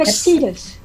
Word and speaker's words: Epictetus: Epictetus.